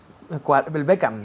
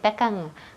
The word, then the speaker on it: Beckham: Beckham. Yes, repeat. Beckham. Todo el mundo aquí dice Beckham con la boca abierta. Sí. Beckham, pues cierra. Beckham, M.